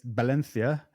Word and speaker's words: Valencia: to Valencia in Spain it's Valencia they don't pronounce the V they pronounce it B uh so yeah going